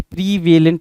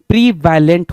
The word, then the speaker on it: prevalent: प्रीवेलेंट नहीं होता, प्रीवैलेंट होता है। वैलेंट के लिए VA होना चाहिए और यहाँ पे E बोल रहा है।